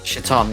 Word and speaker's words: Chthon: origin of, I don't even know how to pronounce this, is it Chaton? Chthon? Chaton? Chaton, yeah.